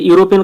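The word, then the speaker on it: European: তো বন্ধু ইউরোপিয়ান আছে, ইউরোপিয়ান কথাটার মধ্যে দেখো ইউ উচ্চারণ করছি, এখানে তো ই আছে, কিন্তু বন্ধু আমরা ইউরোপিয়ান ইউ উচ্চারণ করছি, তো এক্ষেত্রে কি হবে?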